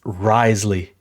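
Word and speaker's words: Wriothesley: it's Risley.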